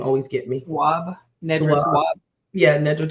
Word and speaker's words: Tawwab: That was something that I thought was um, interesting in reading Nedra's, pronounce her name for me, all the last name always get me. Tawwab, Nedra Tawwab.